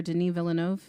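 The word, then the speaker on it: Denis Villeneuve: y s like like the director Deny Villanov sure it's spelled like Dennis but it's Denise um Carrie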